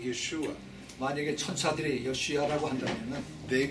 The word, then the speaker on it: Yeshua: 그 이것은 신학적인 문제가 아니라 It was because Greeks couldn't say sh.